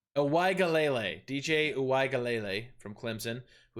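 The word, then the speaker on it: Uiagalelei: I think I pronounced that right. It's Uwaigalele. Uwaigalele, DJ Uwaigalele from Clemson, who is also at a plus 1100.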